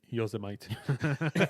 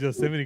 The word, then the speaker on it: Yosemite: Oh, or as I formerly used to say, Yosemite. Did you really? Nah, I wouldn't put it past you, bro. I wouldn't put it past you. That's how it's spelled though. Yeah, so Nah, but I know it's Yosemite because of Yosemite Sam, my nigga.